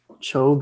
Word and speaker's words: Choeb: Please correct me if I'm pronouncing that wrong. Choeb, but it's totally fine.